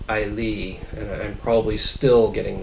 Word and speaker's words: Islay: written it's islay uh i was pronouncing it iola after looking up online apparently it's closer to ailee and i'm probably still